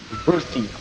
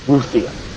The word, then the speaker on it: Ruthia: The island that you guys are heading to, which is right here, is pronounced Ruthie. Just for you guys to know. Just for your information. At the time when I told you what it was called, I mispronounced it. And only realized later that I said the wrong word. So it is actually pronounced Ruthia.